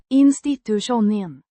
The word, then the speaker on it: institutionen: Means the institution, pronounced In-sti-too-shon-en. with the emphasis on the second syllable.